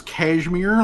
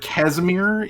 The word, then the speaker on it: Casmir: name uh Casmir uh which will probably get mispronounced as cashmir like like almost ASAP but but Casmir is the the thing that we're going for pronounces it as cashmere we're gonna beat it into them to pronounce it correctly the pants the pants